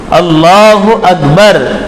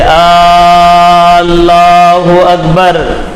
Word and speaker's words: اللہ اکبر: نہ مقتدی کی ہوگی۔ اس لیے صحیح تلفظ اللہ اکبر یہ ادا کرنا ضروری ہے۔ اب کچھ لوگ اللہ کے الف پر مد لگاتے ہیں اور اس کو بہت کھینچتے، اللہ اکبر، ایسا کہنے والے کی